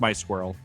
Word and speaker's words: MySQL: So back when I was a MySQL admin years. I'm sorry, it's pronounced my squirrel.